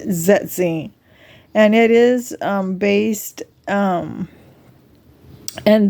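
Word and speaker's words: Zersetzung: It's Zetzing. That's how you pronounce that. A lot of TIs are mispronouncing it. It's Zetzing.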